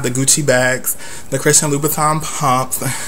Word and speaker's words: Louboutin: He was talking about how, women have the Gucci bags, the Christian Louboutin pumps, get into how I said it, because that's the correct way to say it, another blog post.